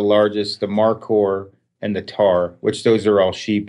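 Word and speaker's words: tahr: So it's the 3 packs, and it's the Argali, which is the largest, the Markor, and the Tar, which those are all sheep and goat species.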